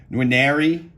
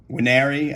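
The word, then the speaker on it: Nwaneri: I can never pronounce his name. Nwenari, Nwenari. I think the N is silent.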